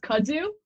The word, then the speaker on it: kudzu: okay um okay I love nice um it's pronounced kudzu you didn't know how to pronounce it on